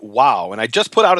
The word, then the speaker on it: Vav: And so the question then becomes, is the sixth letter of the Hebrew alphabet Vav or is it Wow?